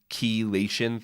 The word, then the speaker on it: chelation: But there's even detox protocols, and I'm going to get passionate here, called chelation therapy. Has anyone ever heard of chelation therapy? Spelled with C-H-E, chelation therapy.